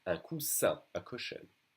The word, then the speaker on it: coussin: Un coussin. Double S will be pronounced like a solid S. Un coussin, a cushion.